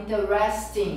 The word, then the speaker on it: interesting: Existe, você vai ouvir algumas pessoas falando interesting, interesting, mas é sotaque, tá, gente? Se você olhar no dicionário, né, a pronúncia correta é interesting. Interesting. Tá? Então, interesting, como se fossem três sílabas.